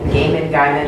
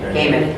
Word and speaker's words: Gaiman: I was gonna say, we're doing Neil Gaiman. Yes. Gaiman. Gaiman.